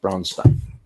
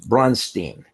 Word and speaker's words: Braunstein: interviewing me repeatedly being unable to pronounce bronstein it was brunstein and so on to which my response was yes that's Frankenstein um but uh I